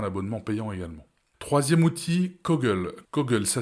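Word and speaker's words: Coggle: devoir passer un abonnement payant également troisième outil cogle cogle ça s'écrit C o g g l e cogle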